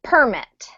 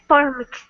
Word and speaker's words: permit: and be careful um when this is a noun like it is here we have to emphasize the first syllable so permit thank you perit great great when we say permit then it's a verb that's one of those funny noun verb pairs um great game Edson